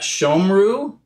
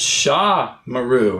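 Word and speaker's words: שָׁמְרוּ: might start to think, is that shomru? Is that the short O comates, or is it sha maru? Is it the long a comates? And the method can help us to know that it's the long a comates by telling us, hey, this is an open syllable.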